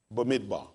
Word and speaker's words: Bamidbar: B-E-M-I-D, B-A-R, Bamidbar.